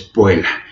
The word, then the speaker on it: puella: Y veíamos que la doble L, la doble T exactamente se pronuncian como palabras simples. La doble L en puella pues es puela, es decir, conserva nada más en este caso la entonación de una sola de las consonantes.